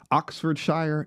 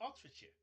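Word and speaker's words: Oxfordshire: I'll pronounce it for you. It's Oxford Sher. It's Oxford. It the It's not sh drives me up a wall. It's sheer. Oxford.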